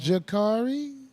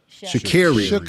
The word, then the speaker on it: Sha'Carri: So, the sister uh I think it's pronounced Jakari Shakiri Shakiri.